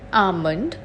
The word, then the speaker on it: almond: just like this word almond there are various other words with the silent l in them such as salmon half